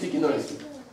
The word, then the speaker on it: крестики-нолики: Krestiki-nolici.